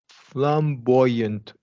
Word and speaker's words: flamboyant: Flamboyant woman. Okay, so perfect here. We're going to do a wide A here.